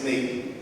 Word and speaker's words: Snyk: For the record, it's pronounced Snyk, like your sneakers.